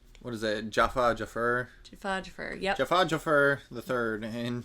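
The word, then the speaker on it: Joffer: Jafur.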